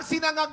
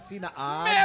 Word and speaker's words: sinangag: O kaya sinaag sinangag sinaag ang ang sinangag po ay tama po yan ngunit wala tayong salitang sinaag saar wala yung tatay ko